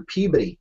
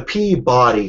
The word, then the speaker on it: Peabody: the venue it's at the PE Hotel I'm sorry I'm sorry the Peabody Hotel you can't say PE